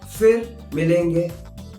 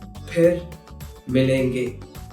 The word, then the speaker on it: फिर: There's no f sound in Hindi.